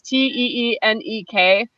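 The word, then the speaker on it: Téenek: I don't know if it's pronounced Tenek or Tenek. It's Teenek, and it's like a 12-bar marimba passage, and it's not repetitive, but it does groove.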